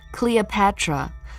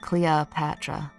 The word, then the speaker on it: Cleopatra: Okay, so you don't like the O, you like the Cleopatra. Cleopatra. It's practically an A, isn't it? Cleopatra.